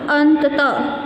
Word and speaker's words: अंततः: ये अगर इसमें मात्रा नहीं होगी तो अंततः, अंततः, परंतु अभी इसमें विसर्ग है तो अंततः, अंततः, ठीक है बच्चों।